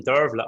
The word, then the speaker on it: Dearbhaile: all right because when i hear the name dervla i think it's going to be fairly simple to spell it's going to just be six letters d